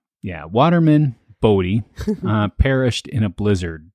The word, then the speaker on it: Bodie: He wanted people to make sure that they pronounced the name correctly and not Booty. Oh, you know, so they they gave the town the name Bodie with a with an IE.